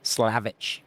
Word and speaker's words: Slavic: Slavage, bro.